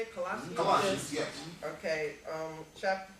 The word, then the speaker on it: Colossians: Colossians, yes.